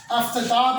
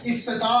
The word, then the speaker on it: افتتاح: نیچے زیر آئے گی۔ افتتاح پڑھتے ہیں، اصل میں لفظ افتتاح ہوتا ہے، الف کے نیچے زیر آئے گی۔ گردش، اصل میں گردش،